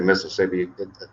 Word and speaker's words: Mississippi: I said Mississippi. Down there they call it Mississippi, so you don't pronounce the other IS.